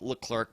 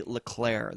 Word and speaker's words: Leclerc: It looks like Leclerc, but it is actually Leclerc.